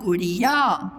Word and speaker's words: गुड़िया: गा में छोटा की मात्रा गु, अड़ा में छोटी की मात्रा अड़ी और या में यहाँ की मात्रा या गुड़िया।